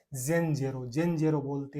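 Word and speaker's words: zenzero: ई का, जेड जेन, जेन जे रो, जेड ई एन को बोलेंगे जेन, जेड ई का जे और एन का एन हो गया जेन, जेड ई को जे रो, जेन जेरो बेचारे अदरक को क्या नाम दिया है, जेन जेरो।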